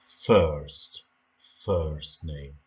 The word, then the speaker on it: first: First name. شوفوا كيفاش كتنطق، راه كتكتب F-I-R-S-T، ولكن ماشي بحال ما كتقراش بحال الفرنسية، ماشي first.